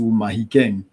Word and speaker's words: Mahikeng: for quite a number of years now to Mahikeng, whereas it used to be Mafikeng before. Mafikeng is typically associated with pronunciation that my tribe would use.